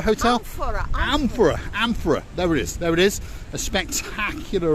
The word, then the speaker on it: Amphora: This place here, the Ampura Hotel? Amphora.